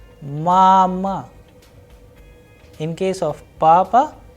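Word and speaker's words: мама: So, in case of mama, the sound of first vowel a is higher, whereas the sound of second a is lower. That is why the pronunciation is mama.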